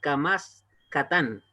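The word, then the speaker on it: קמץ קטן: Ese sí no es, se llama Kamatz, pero este se llama Kamatz Katán. Kamatz Katán. Es una O corta.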